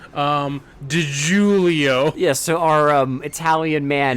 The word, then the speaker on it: DiGiulio: What sounds Italian and rhymes with Leo? DiGiulio.